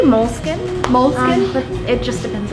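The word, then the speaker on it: Moleskine: How do you pronounce the name of the store correctly in English? Well, they say moleskin.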